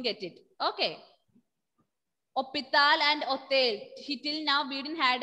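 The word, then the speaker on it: hôtel: What I meant was, in French, if your word is beginning with letter H will be silent and we will consider H as a vowel letter.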